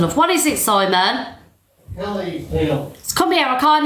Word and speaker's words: Achilles: So Right. Kill. Ease. Achilles. Yeah, no, you don't have to say it like that. I'm emphasising on the word just so you get it right.